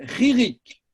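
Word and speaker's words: חִירִיק: du point en dessous, ça s'appelle ririk, Ririk. qui se dit i. Ririk. Ririk. Avec un chet, hein, ririk. Ririk, ça s'écrit comme ça. Ririk. Un chet. Ririk.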